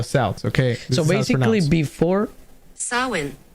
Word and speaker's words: Samhain: So basically before Samhain. Samhain.